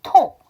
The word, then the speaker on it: talk: 좀 짧죠 엘사운드가 묵음이에요 k로 끝나는 단어는요 L 사운드가 복음이에요 여러분 웜 말고도 알고 계시는 단어 뭐 있어요 톡 talk 말하다 이야기하다 거기서 다 일사운드가 복음이죠 또 있어요 여러분 요새는